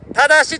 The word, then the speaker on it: 良: 志所長、忠志は良よしと書いて忠志と読みます。